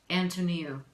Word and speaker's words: Antoniou: of your last name Antony oh okay so an the girl's name tow the thing at the end of your foot me that's where the accent is me ooh Antoni ooh